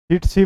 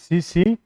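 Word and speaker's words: tsetse: चिटसी बोल देते हैं इसको, लेकिन इसकी सही प्रोनाउंसिएशन क्या है भी? चीसी मक्खी।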